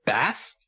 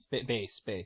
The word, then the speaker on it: Bass: Bass? Bass. Bass.